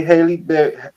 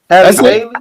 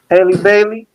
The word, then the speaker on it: Halle Bailey: Only thing I know about bro is he got a baby by Haley Bailey. How you say her name, man? Halle Bailey? No, Haley. Halle Bailey.